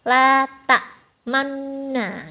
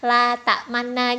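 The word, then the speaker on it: لا تأمنا: isyarat bibir ya teman-teman jadi prakteknya itu adalah latak manne Nah jadi mancung ke depan gitu ketika tes dulu aku bacanya cuma la ta'manna gitu nah jadi ya jelas gak lulus Oke kita lanjut ke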